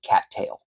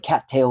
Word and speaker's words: cattail: it is the word Cattail we all know what a cattail is um but we pronounce it with this specific emphasis on the second T we drop that first T and we put in